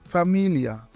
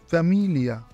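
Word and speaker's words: famiglia: এই তিনটি অক্ষর একসাথে মিলে লি এর মতো শোনা যায়, যেমন ফ্যামিলিয়া, ফ্যামিলিয়া।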